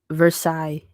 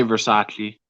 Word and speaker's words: Versailles: dame is awesome uh versailles would also be great gardens are versaille so you spell it versus yeah i used to say versace even though i knew that's not what it was this place is really